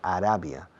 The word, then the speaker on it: Arabia: Fijaos en la pronunciación de Arabia.